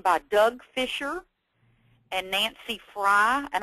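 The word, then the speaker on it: Frey: Doug Fisher and Nancy Fry, and I believe she pronounces it Fry, but she spells it F-R-E-Y.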